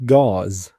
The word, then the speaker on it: gauze: بتسأل what's gauze لكن طبعا نطقتها غلط، فشيلدن بيصحح لها بيقول لها it's gauze. ده النطق الصح بتاعها it's gauze، ومعناها الشاش الطبي اللي هو في الصورة اللي قدامنا ده.